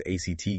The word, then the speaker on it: ACT: Our mission really is to unpack how this Neuroflex act approach, and remember, we pronounce that ACT like the word, how it can help.